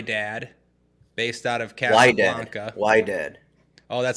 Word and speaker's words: Wydad: Wydad. Oh, that's how you say it? No, it's Wydad. Sorry. It's with a W.